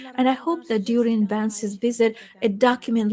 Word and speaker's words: Vance: By the way, Ilhame repeatedly called him Vince today. The Russian style pronunciation.